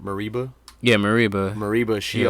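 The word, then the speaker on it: Mereba: yeah, How do I pronounce her name? Mariba.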